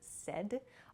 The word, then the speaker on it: said: at the party okay please be careful of your pronunciation with the word said a lot of people I've heard use S S is not correct so please use said it sounds like s d the pronunciation uh but it's said